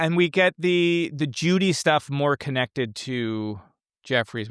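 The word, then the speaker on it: Jowday: I believe Mark Frost has said it is j o day is the you know, proper way to say it.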